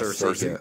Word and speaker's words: Searcy: Yes, Searcy.